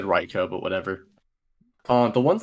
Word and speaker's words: Raikou: rycoon it's riko riko it's said ryko but everyone says raiku it's like that's like